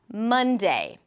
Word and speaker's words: Monday: Monday. Okay, so instead of A, I'm pronouncing it as an O.